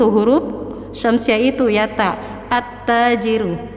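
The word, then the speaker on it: التاجر: Alnya tidak dibaca sukun tapi langsung direbul ke huruf syamsiyah itu ya ta, at-tajiru. Terasa ya bahwa lamnya itu tidak dibaca, yaitu lamnya tidak dibaca sukun tapi dilebur ke huruf setelahnya.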